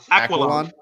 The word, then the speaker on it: Aquilon: I always say his last name super fast because I don't even know how to pronounce it. Aquilon. Is that how you say it? Aquilon. Yeah. See, I just learned how to pronounce your name.